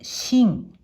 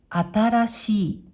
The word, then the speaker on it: 新: 音読みで新、新。訓読みで新しい、新しいと読みます。